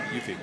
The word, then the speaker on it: Hufe: Asked them specifically, I said, how do you pronounce Yes. that? And they said Hufe.